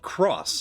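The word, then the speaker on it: χ: Right, it's pronounced Key because it's X, the Greek letter CHI, which I thought was pronounced Kai, but maybe it's Key.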